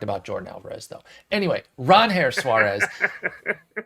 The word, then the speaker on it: Ranger: Anyway, Ron Her Suárez BBRef needs to get